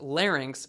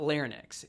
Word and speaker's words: larynx: and by the way it's pronounced larynx not Lennox it is your larynx